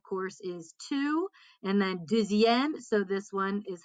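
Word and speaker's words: deuxième: pronounce it d but because we're kind of linking that x with that i we get a little bit of a z sound so once again jizzy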